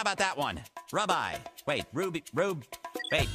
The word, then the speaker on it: Rubye: Rubeye. Wait, Ruby. Rube. Wait, how do you pronounce that? Hi, I'm Ruby.